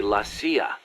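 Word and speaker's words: la CIA: situation in Central America around here they say lasya instead of CIA huh nothing strange about it that's how it's pronounced when you read it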